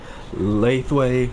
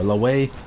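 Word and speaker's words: Lethwei: la la la way because it's spelled l-e-t-h-w-e-i and so i guess it just depends the accent you have and what language you're speaking it in where it could be pronounced as left way where you pronounce the th or the way where you pronounce it without the th man human language is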